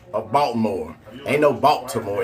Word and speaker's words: Baltimore: You don't even say the T in Baltimore. Am I right or wrong? There ain't no T in pronounced in Baltimore if you're from Baltimore.